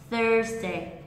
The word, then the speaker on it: Thursday: đâu đúng không n Nên là các bạn phải để ý nhá nó là th tr trong âm chính dây vàở âm Tiết đầu tiên và mình sẽ đọc cho trọng âm chính này thông thường mình sẽ khuyên mọi người là đọp dài và đọp to hơn Thursday Thursday Thursday Thursday Ok thứ sáu